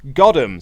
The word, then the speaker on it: Godum: Cinder Godum, pronounced Goddam, so Cinder Goddam, is a wrestling manager who, in his heart of hearts, is actually a Pokemon trainer.